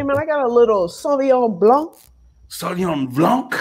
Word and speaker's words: Sauvignon Blanc: Hey, man, I got a little Sauvignon Blanc. Sauvignon Blanc? You got to say it like that. Sauvignon Blanc.